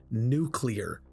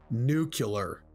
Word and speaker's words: nuclear: nuclear bombs oh and by the way it's pronounced nuclear not nuclear I just wanted to mention that anyway I